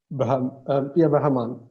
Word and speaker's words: Brahman: Brahman, technically. Yeah, Brahman. Think of it as saying bruh and man.